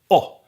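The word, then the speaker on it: att: go to be that's at in swedish so both these words can be pronounced o and they are probably gonna be pronounced oh and this confuses sweets as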